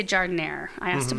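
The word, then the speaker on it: jardinière: I feel like the J needs to be like a ha. Huh. Yeah. No, it is a J.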